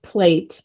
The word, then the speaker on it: plait: it's it's um plait it's spelt like plate but it's pronounced plat however my my husband